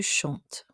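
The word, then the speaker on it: chantes: an e s to chant remember we don't pronounce the s though he plays soccer our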